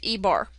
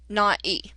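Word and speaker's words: Ē: We denote this by an E with a bar over it, and that's how we pronounce it, E bar, or not E.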